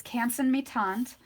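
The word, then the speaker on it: Canson Mi-Teintes: It's Canson Metant. That's how that's pronounced.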